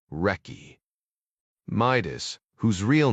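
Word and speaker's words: recce: Delta Force had inherited several traditions from the British SAS, including their slang like calling reconnaissance missions wretch, pronounced wrecky.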